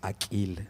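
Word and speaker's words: Akil: Aquil, así se pronuncia.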